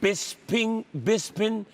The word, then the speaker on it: Bisping: Because is your name Bisping, or Bispin, or Bisping? Can you read? But they don't say the G.